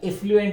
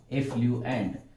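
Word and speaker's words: effluent: जे बाहेर पडतं त्याला एफ्लुएंट असं म्हणतात. आणि त्याचं स्पेलिंग आहे ना ते EFF आहे, एफ्लुएंट.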